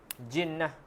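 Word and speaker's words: جِنَّة: Jinnah. Kena perhatikanlah walaupun ejaannya jim nun ta marbutah. Bezalah daripada jannah. Jannah syurga. Jinnah jin.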